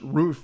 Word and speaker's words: Ruff: last name from ruff pronounced roof in german to birthman pronounced batman